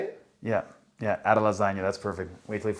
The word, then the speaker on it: Adesanya: Yeah, Adesanya, that's perfect.